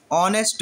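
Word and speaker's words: honest: ऑनेस्ट मैन, देखो इसको जब हम पढ़ते हैं तो ये हमारा एच साइलेंट होता है और ऑनेस्ट मैन बोलते हैं इसको हम।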